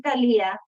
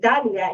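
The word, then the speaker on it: Thalia: your name on to pronounce it like it's going to be Talia but then again people were kind of saying Dalia instead of Talia. So her dad decided to put an H at the end to sound instead of that works.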